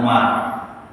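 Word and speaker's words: عمر: khalifah dari Bani Abbasiyah bedanya adalah di huruf terakhir kalau tanpa Waru itu bacanya Umar kalau ada waktunya membacanya Amar yang ketiga namanya sama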